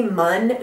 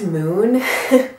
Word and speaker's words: MUN: It reminds me a lot of the, I always say Mun face oil. I know the brand now is actually pronounced Moon, which is totally not intuitive.